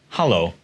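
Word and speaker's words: hallo: Then we get to the Dutch version of hello, which is hello. Hello spelled with an A.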